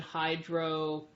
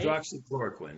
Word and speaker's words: hydroxychloroquine: and they were given hydrochloroquine, Which is, I'm saying it wrong, right? Hydroxychloroquine, yeah.